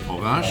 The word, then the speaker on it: Horage: It's Hora, Latin, the hour, age, English, century, and then you pronounce it French, Orage.